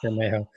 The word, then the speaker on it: Bermejo: I always thought it was Bermejo. I've been pronouncing that right. right. It's just nice. It's Bermejo.